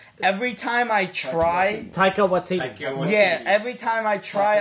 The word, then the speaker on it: Taika Waititi: Or Taiki Waititi's Thor Ragnarok. Yeah, the costumes, the uniforms. I'm sorry, I cannot... I can't pronounce this guy's name. Every time I try... Taika Waititi.